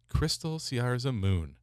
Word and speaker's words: Kristelle Siarza Moon: Kristelle Siarza Moon. I mean, just a lovely name. She's lovely. And you pronounced it right.